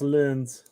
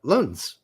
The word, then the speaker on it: Lens: Apparently it's not pronounced Lens. Yeah, Lunds. Pronounced like Lunds.